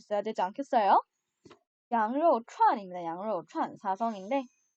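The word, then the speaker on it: 羊肉串: 양료추안. 여러분 중국어 나오면 여러분 적어도 양꼬치 먹으러 갈 때 간판은 적어도 정확한 발음으로 읽을 수 있어야 되지 않겠어요? 양료추안입니다. 양료추안 사성인데 이 양료추안 같은 경우에는 가장 대중적인 이슬람식 회교 요리입니다.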